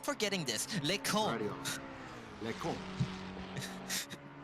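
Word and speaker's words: Les Combes: Les cons. It's pronounced Les Cons, but Les cons.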